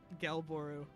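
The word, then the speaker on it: Gelbooru: I just asked the creator on Twitter how to pronounce it because I was curious and they actually answered. What'd they say? Gelboru.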